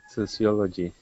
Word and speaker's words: sociology: right uh second word sociology okay how many syllables for i disagree so see oh g there's five in this case okay what you have